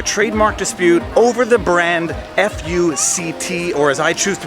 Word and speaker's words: FUCT: The case that was heard by the Supreme Court relates to a clothing brand aptly named Fuct, F-U-C-T, not pronounced that way.